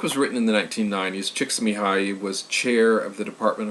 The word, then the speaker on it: Csikszentmihalyi: Let me pronounce that again. Mihai Csikszentmihalyi.